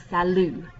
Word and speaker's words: salut: and number three is salu you don't actually say the t on the end of salu but it is similar to salute and it means hi